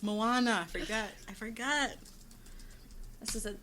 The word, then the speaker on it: Moana: I say Mona. I'm like, yes, it's Moana.